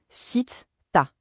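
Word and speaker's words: ستة: La prononciation est super simple. Sit-ta. Sit-ta.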